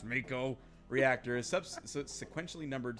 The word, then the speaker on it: Mako: a total of eight ma Co which should be pronounced Mako reactor is substances sequentially